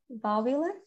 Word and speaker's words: valvular: can you guess okay so valvular um where does it stress is stressed at the first world right the first syllable so vowel valvular okay so what does